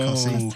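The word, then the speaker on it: Costessey: I think Cossey may be my favourite because it is spelled Costessi and somebody's just gone, I ain't got time to say that. Cossey.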